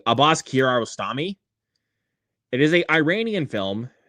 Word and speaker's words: Abbas Kiarostami: I remember to pronounce the filmmaker's name correctly. Abbas Kiarostami.